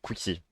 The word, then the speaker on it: qxuexy: Pour ceux qui se demandent, parce que je sais que c'est un peu compliqué à prononcer, mon pseudo ça se prononce Quixi.